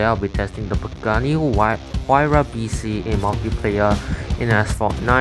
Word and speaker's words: Huayra: one Apollo N, 2 Huayras and 3 Veyrons. I'm still getting used to the correct pronunciation of the car. It's Huayra with a HE sound, yeah.